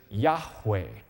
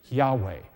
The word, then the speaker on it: Yahweh: How do you pronounce the name? Yud, He, Vav, He. And the answer is Yahweh. Yahweh.